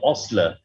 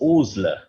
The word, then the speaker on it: Osler: he himself wrote that my name is not osler it's oozler that's something i must